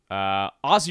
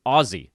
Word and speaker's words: Aussie: Aussie Rules Football Ozzie I've been told I need to pronounce it with a Z not Aussie it's Oz my best friend from high school married an Aussie she corrected me quickly said nah man that's a hard Z which is the opposite